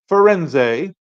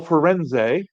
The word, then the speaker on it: Firenze: preview of the carnival forenz which is how I hear it it's pronounced I could be wrong but I'm going to